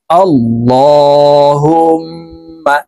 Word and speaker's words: আল্লাহ: জবর অথবা পেশ হইলে এই লামকে ল অর্থাৎ মোটা করিয়া পড়িতে হয় তো এখানে দেখুন আল্লাহ